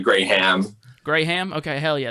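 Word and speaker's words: Graeme: cool you said it's graham graham graham yeah yeah yeah it's it's like spelled differently it's about like g-r-a-e-m-e but it's pronounced the same way it's like gray ham gray ham okay hell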